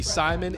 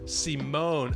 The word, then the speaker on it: Simone: You're saying you called me Simon. It's pronounced Simone.